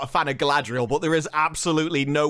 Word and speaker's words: Galadriel: Galadriel. Adril? Galadriel. Galadriel. We're not just not bothering to roll the R's anymore. We've somehow squashed a name into one syllable.